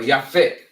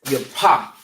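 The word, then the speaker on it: Japheth: Japhet, all right? Or Yafet, all right? So and you will find, Salak, you will find their lineage also in Genesis 10, okay? And you say, or you pronounce their name in the Hebrew as Yapah.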